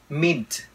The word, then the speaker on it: mint: phần ở bên đây Các bạn chú ý cái chữ T mint mint mint mint Nếu mình không bỏ t là nó không ra cái chữ đó ha mint flavor cái chữ